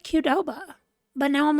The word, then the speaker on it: Qdoba: y'all pronounce that, because Qdoba is how some of the people that I work with say it, as if it were a K and not a Q. And then I've always said Qdoba, but now I'm like, is it Qdoba?